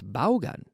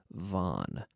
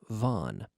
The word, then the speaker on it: Vaughn: a very common surname Vaughn and it's pronounced as if it were v o n Vaughn but we have all